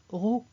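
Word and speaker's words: ρ: la masse volumique donc n'oubliez pas que ça se prononce ro alors un petit exemple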